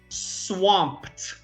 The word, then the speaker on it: swamped: at this word here swamped so this is a t sound and this is a